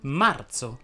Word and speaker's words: marzo: La Z andrebbe pronunciata sorda o aspra quando è preceduta dalla consonante R. Infatti si direbbe marzo, sferza, sferzare, sforzo, sterzo, terzina.